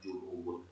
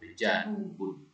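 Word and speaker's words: جَنُوبٌ: ya syamalun syarqun janubun bukan ju ya bukan junubun janubun kemudian garbun k terakhir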